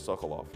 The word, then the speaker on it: Sekulow: That's how they say it they don't pronounce it secular, it's always Sokolov.